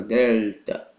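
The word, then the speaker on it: δέλτα: pronúncia original do l então no final da sílaba vai ficar Delta Ok a língua vai lá no céu da boca Delta Então dessa forma ele não vira u como em português ok dessa forma nós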